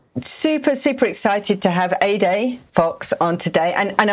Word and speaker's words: Ede: super excited to have a day Fox on today and and I'm so I love the mnemonic that you gave us to kind of pronounce that like a sunny day because of course how